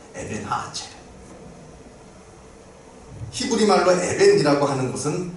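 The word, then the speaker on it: 에벤에셀: 이름하여 에베네셀, 더 정확하게 발음하자면 에벤하아첼.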